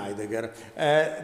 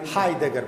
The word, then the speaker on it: Heidegger: Martin Heidegger, vous savez, Heidegger, pardon, nous Italiens, on ne prononce jamais le H et comme résultat, on ne nous entend jamais, ce n'est pas un désavantage.